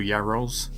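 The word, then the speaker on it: Net Yaroze: never pronounce this right is it the net yarus or yaros yeah correct net Euros Euros there we go number 11 to Paul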